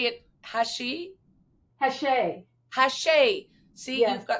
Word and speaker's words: Hachey: Hachey.